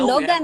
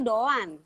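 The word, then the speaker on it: Doğan: doang alaikumsalam doang itu bukan Dogan ya bacanya tuh doang doang ah Iya tapi ngerti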